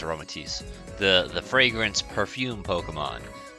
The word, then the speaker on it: Aromatisse: that's how it's pronounced my mind says aromaticity but i'm pretty sure it's aromatics the the fragrance perfume